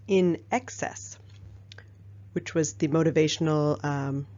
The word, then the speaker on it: INXS: a band called INXS INX s pronounced in excess which was the motivational